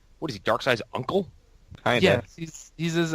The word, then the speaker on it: Darkseid: I said seed for all my life before I heard it pronounced as Darkseid, so I don't give a fuck.